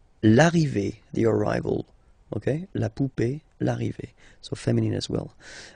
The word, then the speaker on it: poupée: Remember, this final E is not pronounced, so you will have this E. Remember, accent aigu, it's E sound, okay? La poupée, the doll. L'arrivée, the arrival, okay? La poupée, l'arrivée, so feminine as well.